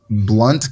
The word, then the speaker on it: Blount: funny because it's uh it's Blunt County but it's spelled Blount b-l-o-u uh UNT yeah so um I